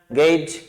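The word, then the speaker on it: gauge: जब GE या S की ध्वनि जे आए तो ये सिंबल होता है, तो ये इसका प्रोनाउंसिएशन हो गया गेज नाउन।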